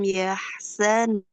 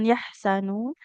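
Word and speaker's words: يحزنون: wala khawfun alaihim wala hum yahzanun. Huruf zainya hati-hati ya, jangan yahsanun.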